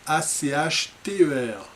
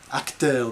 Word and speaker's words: Achter: Alors, Damien von Achter, A-C-H-T-E-R, Achter, des fois certains le prononcent comme ça, je ne sais pas si c'est les Wallons, les Flamands, mais je crois que vous avez droit aux deux.